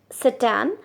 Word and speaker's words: Tsetan: So spelling is Tsetan, but we will pronounce it Setan.